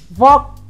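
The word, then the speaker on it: walk: यहाँ पर L silent है, इसलिए हम वॉक फास्ट बोलेंगे.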